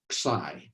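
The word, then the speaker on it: xi: x i and um american physicists pronounce this as psy i don't have any idea of how greek people really pronounce it but let's just go with that so theoretical physicists usually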